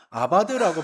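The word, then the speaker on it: עבד: 아바드라고 발음을 하는데요.이 단어는 본래 종이 주인을 위하여서 일한다는 뜻에서 나온 말입니다.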